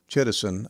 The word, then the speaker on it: chitosan: also a product called chitosan I believe is the correct pronunciation one of the products